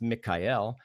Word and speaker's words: Michael: tonight and then Archangel Michael when we summon him is actually pronounced Mikael he comes from the